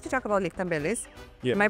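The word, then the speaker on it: Lietkabelis: I would like to talk about Lichtabelis. Yeah. My pronunciation is good. Yeah, that's great. Is Lichtabelis.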